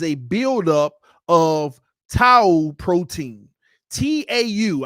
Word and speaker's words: tau: buildup of Tau protein t-a-u I may be pronouncing that wrong but it ain't too a tua but it's t-a-u Tau protein there is a protein